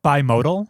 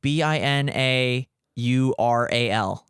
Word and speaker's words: binaural: in your ear cuz Okay how do you pronounce it binaural audio oh bodal no like b i n a u r a l okay I'm not familiar with that term B